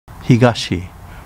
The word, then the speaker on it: Higashi: Higashi, pronounced Fijachi in Uchinaguchi, and is famous for the Yambaru Forest.